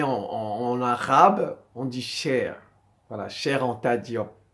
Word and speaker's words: Cheikh: en arabe on dit cher voilà cher en tadiop comme la chair là C H a i r voilà c'est comme ça